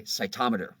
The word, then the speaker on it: cytometer: exactly what you meant if we wanted to be proper we would say cytometer so that's just a